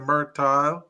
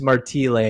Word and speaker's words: Martile: name correctly I said merti oh it's merti but you know what it's because my dad's Italian and then he immigrated to Canada it's Marti that's why so it's